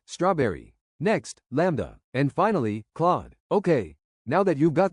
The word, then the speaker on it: Claude: Claude's a bit tricky because it's spelled Claud. So people tend to pronounce it cloud, but it's actually Claude.